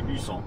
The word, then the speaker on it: Bussang: C'est un G muet. Il s'écrit Busang. Et on dit Bussan.